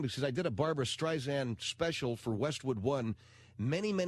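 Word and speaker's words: Barbara Streisand: We had to go back in and cut recut everything because I said Barbara Stryzen and it's Barbara Stysan and it's it was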